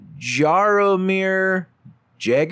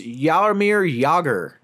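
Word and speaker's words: Jaromír Jágr: white people have let's try this one uh Jaromir Jagr er nope that's actually pronounced yaar mere yauger Shoni Morrison nope that's actually the Gaelic spelling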